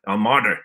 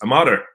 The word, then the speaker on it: Armada: And Jim and I used to sit in the studio and he would, no, Jeff, it's not Armada. It's Armada.